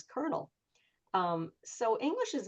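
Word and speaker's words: colonel: One word that really gets them is the word kernel because you know if you want to go by how it's spelled it's colonial but we all pronounce it as kernel.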